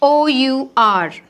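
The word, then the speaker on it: hour: give the nela brandon street this is h o u r h o u r h o u r the pronunciation of this word is r okay r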